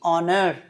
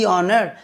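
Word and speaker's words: honour: Consonant থাকা সত্ত্বেও যেহেতু এইচটার উচ্চারণ অয়ের মতো হচ্ছে, সেই জন্য এখানে দা না উচ্চারণ করে দি উচ্চারণ করা হচ্ছে।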